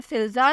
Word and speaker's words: FILZA: नाम है फिल्ज़ा, स्पेलिंग है FILZA।